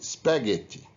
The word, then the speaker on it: spaghetti: so we say enough and we pronounce the gh as egg in spaghetti so we notice that